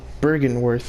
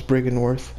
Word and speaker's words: Byrgenwerth: Or Byrgenwerth as it's spelled, but they pronounce it as Byrgenwerth.